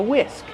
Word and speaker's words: whisk: I'm using a whisk. This is called a whisk. How do we pronounce whisk? Whisk. The H is silent. Just use the W sound. WW whisk plus the short I sound like this.